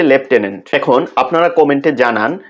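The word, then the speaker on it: lieutenant: লেফটেন্যান্ট বানান করতে হবে LIE লাই, তারপর ইউ, তারপর টেন TEN, তারপর হচ্ছে ANT লাই ইউ টেন অ্যান্ট, মানে মিথ্যা তুমি 10 পিঁপড়া, এরকম একটা টেকনিক দিয়ে সবাই মনে রাখে। তো উচ্চারণটা হচ্ছে লেফটেন্যান্ট।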